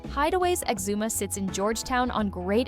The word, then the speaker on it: Exuma: Why would the top affordable all-inclusive resort be located on an island most people can't even pronounce correctly? Hideways Exuma sits in Georgetown on Great Exuma, far from the crowded Nassau scene.